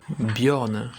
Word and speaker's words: Björn: c'est comme le prénom Björn Bjorn code de fer ou même la chanteuse Bjorn on prononce pas genre on prononce bien le J se prononce comme un i parfois dans l'alphabet d'ailleurs